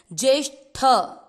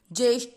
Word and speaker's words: ज्येष्ठ: यहाँ एक चीज ध्यान रखनी है, कई बार हमको उच्चारण में पता नहीं चलता कि हम ट बोल रहे हैं कि ठ बोल रहे हैं। ठ पे थोड़ा सा आघात लगता है, ज्येष्ठ ऐसे, ज्येष्ठ।